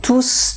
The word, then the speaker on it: tous: les corps par exemple tous les jours un corps tous les jours tous les mois tous mes amis un non je ne prononce pas le s ok quand je prononce